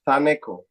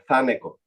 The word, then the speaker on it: Thaneco: The th it's pronounced thu. Yep. So my name is Thaneco. Thaneco.